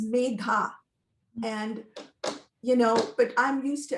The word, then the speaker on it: Medha: It's a hard sound to make because it's Medha, so it's Megha.